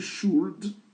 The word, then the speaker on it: should: On écrit should mais on prononce should on prononce pas le L. Ici il faut l'ignorer même s'il est là.